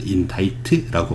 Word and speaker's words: indict: C는 묵음입니다. 그래서 indict라고 발음해요.